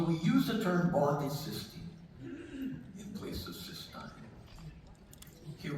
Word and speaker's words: cystine: So, now let's look at another amino acid called cystine. Again, note the difference in spelling and pronunciation.